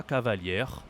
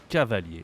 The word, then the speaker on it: cavalier: this is here La Cavalier that would be the okay that would be defin and that means something else in French so be careful we say cavali Okay cavali I want to explain something